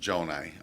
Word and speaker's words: Gjonaj: Well, my name is Gjonaj. I'm running for Oakland County Executive. You probably see my signs everywhere, but the spelling is a little tricky, but it's pronounced Gjonaj.